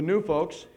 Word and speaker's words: Gnu Fokes: We are called collectively the Gnu Fokes, and that's spelled Gnufokes.